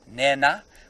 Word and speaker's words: Nhenha: A slightly aspirated H or N, so it's Nhenha. Which, look. They don't really mind if you don't say the aspiration. A very strict Shangaan language teacher might be, but you can pronounce it N-E-N-A if you're not in the sort of Shangaan land that we're in now.